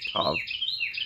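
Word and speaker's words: טוב: And here it's just in Old Hebrew, it's pronounced Tov instead of Tav, but it's the same word.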